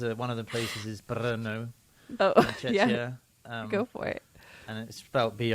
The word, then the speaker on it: Brno: of the places is bro oh go for it and it's spelled BR which is obviously Bruno without the u and Billy do you